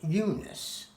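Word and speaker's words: Unas: So there was a pharaoh, His name is spelled U-N-A-S. Now, I pronounce it Eunice.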